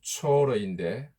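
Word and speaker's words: צור: 두로는 헬라어로 튀로스, 라틴어로 튀루스라고 하고 영어로는 타이어라고 발음하고 우리말로는 티레라고 하기도 합니다. 히브리어로는 초어인데 바위라는 뜻을 가지고 있습니다.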